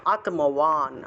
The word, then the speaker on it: আত্মবান: উচ্চারণ হবে, নির্যোগক্ষেম আত্মবান, আত্ম তয়ের নিচে ম আছে তাহলে আত্ম আর বান থাকলে ওয়ান, আত্মওয়ান, আত্মওয়ান, এইভাবে উচ্চারণটা হবে।